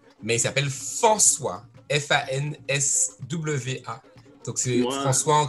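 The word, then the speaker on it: Fanswa: C'était marrant, en fait, comme prononciation. Mais il s'appelle François.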